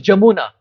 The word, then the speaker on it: Yamuna: Bengali pronunciation. Like Yamuna becomes Jamuna. Ya becomes Ja. Prabhupada would say Jamuna.